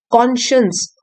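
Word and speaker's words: conscience: Spelling देख लीजिए यहां पे कॉनशंस स्पेलिंग साइंस लिखा हुआ है लेकिन इसको हम प्रोनाउंस करते हैं। कॉन्शियस हमारी अंतरात्मा की आवाज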